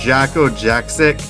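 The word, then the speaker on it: Jakko Jakszyk: I don't know if I pronounced his name correctly, but I think it's pronounced Jacko Jaksic.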